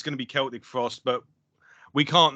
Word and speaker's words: Celtic Frost: Well, it's interesting because I would say that probably the proper pronunciation is Celtic Frost. I have never said Celtic Frost before. It's always been Celtic Frost, and I'm sure that you've heard it pronounced Celtic Frost as well.